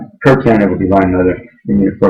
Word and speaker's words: Kirtan: Yeah, Kirtan, sometimes it's mispronounced Kirtan or whatever, but really in Hindi it's pronounced Kirtan. It's K-I-R-T-A-N.